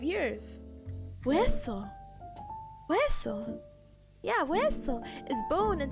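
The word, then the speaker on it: hueso: You don't really pronounce the H in Spanish. Gosh, now I'm getting self-conscious. I haven't said I haven't said this word in 5 years. Wesso.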